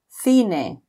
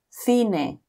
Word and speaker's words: cine: Whereas if C is before E or I, it is pronounced like a th. So for example, cebolla or cine. Again, cebolla or cine.